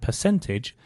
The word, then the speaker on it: percentage: The first thing to mention is that for both percent and percentage, the stress is on the cent, so percent and percentage.